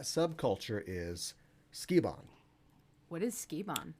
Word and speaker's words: Sukeban: What is Sukeban? Sukeban, or Sukeban, as it's pronounced often in the West, means delinquent girl.